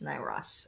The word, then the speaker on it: Nyros: And Nayros. Or is it Nyros? I bet you your name is pronounced Nyros. Huh, it's Nyros.